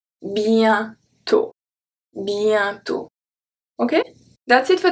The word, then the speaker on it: bientôt: un comédien, un lien, bientôt, bientôt. So you see that I don't say bientôt, I say bien, ien. So it's the rolling I. Bientôt, bientôt.